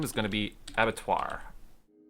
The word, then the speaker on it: Abattoir: is going to be Avatar Avatar that's how you pronounce that it's basically means a it's another word for a slaughterous basically so that's going to